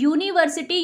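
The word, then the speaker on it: university: नहीं, ये जब हम इसे प्रोनाउंस करेंगे तो इसका साउंड जो है वो हिंदी में व्यंजन का आएगा, कॉन्सोनेंट का आएगा, य का, तो इसलिए ये हो जाएगा, वॉवल नहीं रह जाएगा, ये कॉन्सोनेंट हो जाएगा, तो कॉन्सोनेंट के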